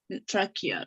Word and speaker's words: trachea: Trachea. Trachea, yes. I Another one. the language Italian helped me to read this presentation because CHE in Italian pronounced que so algo Similar.